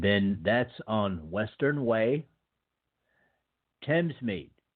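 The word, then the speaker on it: Thamesmead: that's on western way Thames meet now that is not spelled the way it sounds you spell it th a.m. es m ad okay that's in London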